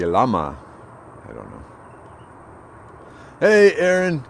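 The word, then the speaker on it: llama: one ah thank you double l in spanish is y sound like lama i don't know hey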